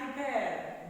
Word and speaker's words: prepare: In this word, stress is on second syllable.